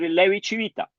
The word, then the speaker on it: Levi-Civita: cuando uno tiene la CI en italiano suena como che. Por ejemplo, cuando uno dice chao, los italianos escriben, lo escribo por aquí, escriben ciao. Así es. Este es el ch, y se lo pronuncian como chao. Porque esa suena como che, y nosotros le demos chao. Entonces, bueno, la forma de decir Levi-Civita, pero escribe Levi-Civita.